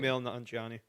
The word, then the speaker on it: Kumail Nanjiani: Kumail Nanjiani.